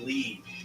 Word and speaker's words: Lied: It's pronounced Lead. I say lie.